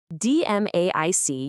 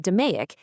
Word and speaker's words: DMAIC: DMAIC, you pronounce it "duh-may-ik", is a five-phase data-driven roadmap.